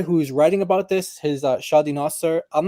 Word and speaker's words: Shadi: Shadi, how do you spell that? That is Shadi it's like shady, like SHADY, and then Nasser is NASSER.